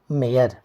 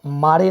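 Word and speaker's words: Mare: और इस कविता को लिखे हैं एक बहुत ही जाने माने कवि जिनका नाम है वाल्टर डीला मेयर। इसको मारे नहीं पढ़ेंगे, मेयर पढ़ेंगे।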